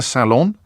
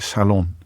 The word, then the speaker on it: salon: do but clean the salon how do you pronounce that word I like Salon as opposed to Salon but you're perfectly welcome to put the emphasis on the first syllable and make the T